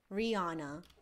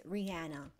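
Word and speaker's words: Ryanna: It's spelled R-Y-A-N-N-A. It's not spelled like the singer. No, it's not Rihanna, right? It's Rihanna. There's a difference, okay?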